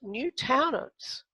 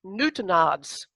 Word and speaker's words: Newtownards: poor law unions now i would have pronounced this and i did as new talents when i got to ireland i found that it's newtonians so sometimes that's how you find out about how your spelling changes is the fact that if you're lucky enough to be an island you'll find out the correct way to pronounce it now this is a